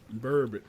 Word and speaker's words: burbot: Burbot. How do you spell it? Oh, geez, I don't even know. Not bourbon, but burbot.